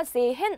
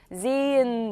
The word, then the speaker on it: sehen: 그래서 Zn 이렇게 되고 모음 다음에 하 오면 어떻게 됐었어요? 묵음되고 장음된다 배웠으니까 sehen 아니고 sehen 이렇게 읽어주시면 되는 거였어요.